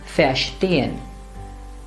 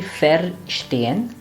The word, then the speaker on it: verstehen: So this word should be verstehen. It should not be verstehen, but verstehen or verkaufen.